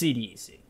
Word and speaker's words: CDEC: Also CDEC, but it's CDEC. We were all told at TI5 that is the proper pronunciation, and that is what I'm going to